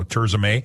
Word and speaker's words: Tirzah: tza by the way is spelled TI r z ah May maay so turay or go on to